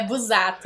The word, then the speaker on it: Busato: duas consonantes ali, consoantes, o S tem o som de Z, né? Então é Busato, gente.